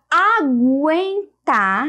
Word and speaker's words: aguentar: ó certo e aí na palavra aguentar nós temos o som do um portanto não é dígrafo e aqui agora não